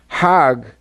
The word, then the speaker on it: Hajj: around the circles now Hajj is a pilgrim to Mecca Haag is the Egyptian pronunciation hug in Hebrew means